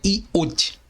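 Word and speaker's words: Yod: hebraico se chama Yudi podemos encontrar em outras fontes seu nome como sendo iodé Yudi pronunciada no hebraico moderno contudo a pronúncia correta é Yudi e você pode estudar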